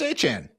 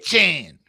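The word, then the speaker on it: Etienne: Travis Travis Achan. Round five. Travis. Okay. Etchen on this show. I get it right. You have to really pronounce the French in there. Eh. Round five. Travis Chen.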